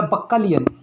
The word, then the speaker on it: bacchanalian: यहाँ पर वर्ड है बच्चालियन या बक्कालियन। बक्कालियन बोलते हैं।